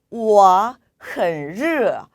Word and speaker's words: 热: 자, 이번에는 라고 해서 R 발음을 넣어서 발음을 해주시고요. 역시나 단순히 러 하는 것이 아니라 정말 덥고 짜증나는 느낌을 살려서 라고 발음해 주셔야 되세요. 자, 그러면 우리 회화체로 옮겨볼게요. 나 더워 我很热 라고 표현하시면 되겠습니다.